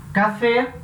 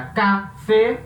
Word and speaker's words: café: com vogal como o café café separa café a última sílaba a sílaba tônica então ela vai levar